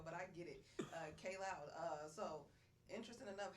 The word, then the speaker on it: Kaj: mispronouncing my name, but it's actually pronounced K Loud. K Loud. Yeah. See, I was just reading it said See, KJ.